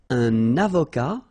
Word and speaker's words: avocat: Un avocat, so remember, liaison here, and then final T not pronounced, okay?